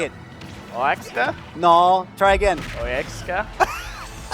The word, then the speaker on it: Oaxaca: Oaxaca. Oaxaca? Yeah, sometimes the Oaxaca. X sounds like a J. Oh, that's cool. It depends on the word that it's being pronounced.